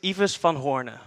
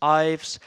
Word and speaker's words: Ives van Hoorne: like salute so salute my name is Eva's fan Horner which is quite hard to pronounce so you can also call me Ives and for some reason